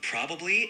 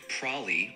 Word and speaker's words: probably: Both probably and prolly are correct, but probably is the more standard pronunciation. Prolly is a more casual, informal way of saying it.